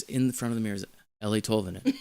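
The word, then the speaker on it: Eeli Tolvanen: Ellie Tolvanen, Ellie Tolvanen, Ellie Tolvanen, because I kept seeing Eli, but anyway, I wasn't really doing that.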